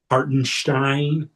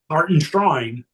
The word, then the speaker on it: Hartenstein: Hartenstein I guess is the right way to say it. Put the emphasis on it. Hart and Shrine.